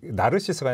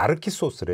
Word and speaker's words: 나르키소스: 요즘은 보면 그러니까 나르시스가 아니라 나르키소스래. 그러니까 그건 뭐죠, 또? 이게 뭐냐면 이제 외국 사람 이제 이름 쓸 때 표기법에 따르면 아. 본토 발음해야 된대요.